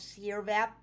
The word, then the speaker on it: Sirvap: he knew the pro correct pronunciation of sierra vap no it's not sir that but sierra i was like oh